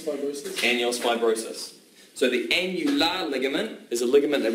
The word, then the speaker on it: annular: Annular, where else have you heard of annular? Annular rhymes with formula.